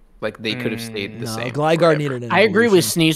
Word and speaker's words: Gligar: What do you pronounce Gligar as? Gligar.